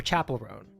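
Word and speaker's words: Chappell Roan: Did I pronounce that correctly? Chapel Roan. What the heck? Chapel Roan. Hard CH. I think I was thinking chaperone, but I think it's a harder CH.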